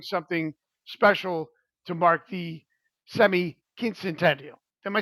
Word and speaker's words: semiquincentennial: special to mark the semiquincentennial. Am I saying that right, Joe? Semi-quincentennial. Quin- Yeah, there are two N's. Semi-quincentennial. Yeah, quin- centennial would be one of a Spanish pronunciation.